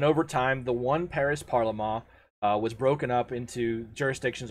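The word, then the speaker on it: parlement: parliament which is actually parliament p-a-r-l-e-m-e-n-t but it's pronounced parliament there was originally one parliament and it was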